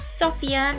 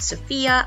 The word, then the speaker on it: Sofia: The real capital is Sofia, pronounced Sofia, not Sofia. I know you want to say Sofia.